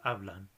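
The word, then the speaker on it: hablan: she's speaking or oblong with an N on the end the stress is the same second law syllable oblong which is the word for they're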